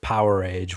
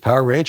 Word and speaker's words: Powerage: Let's talk about the fan favorite Power Age, which, by the way, I pronounced incorrectly for most of my life. Is it Power Age or Powerage? No, I used to call it Powerage. I don't know why, but even Slash pronounced it that way until I heard an Angus Young interview, and he said something like, you have your Ice Age, you have your Stone Age, and then you have your Power Age.